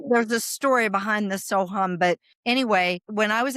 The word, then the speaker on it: Soham: Sohum. So it's one of the most well-known Vedic mantras. It means I am. It's SO, and then you'll see it written HUM. Okay. There's a story behind the Soham, but anyway, when I